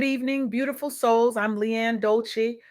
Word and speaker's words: Dolce: I'm Leanne Dolce, pronounced dolce like sweet softness whispered in French.